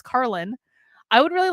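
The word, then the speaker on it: Karlyn: correct them and say it's not carolyn or caroline or karen it's carlin i would really like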